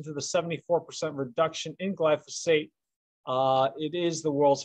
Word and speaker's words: glyphosate: which is glyphosate that i mentioned it is pronounced glyphosate and not glycophage or glyphospherus or anything like that and that is the